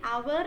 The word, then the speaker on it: hour: In these letters, or sorry, in these words, the letter H is silent. H is considered to be silent.